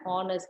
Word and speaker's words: honest: For example, he is an honest man. Here the H is silent. So the first sound of the adjective is an. Oh, a vowel sound.